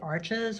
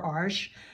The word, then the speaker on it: Arches: watercolor paper from France called arches or arsh you'll hear it pronounced both ways this comes in